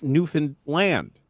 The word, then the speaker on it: Newfoundland: Pronunciation of this beautiful province does not end with London Canadians say. It's Newfan Land.